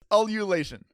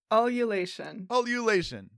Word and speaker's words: ululation: The word of the week is ululation. Ululation.